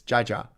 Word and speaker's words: jaja: I said that in Spanish, instead of haha, because they pronounce their J's as H's, it's jaja. Jaja. So like when people like say ha ha ha ha, they put jaja, jaja, jaja, jaja. But they pronounce it haha.